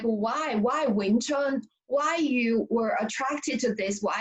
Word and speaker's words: Wing Chun: And like what you practice is called Wing Chun, right? Wing Chun. Is that the right pronunciation?